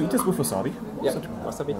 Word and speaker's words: wasabi: Yeah, wasabi. All right. Wasabi. Hi. You pronounce it shorter.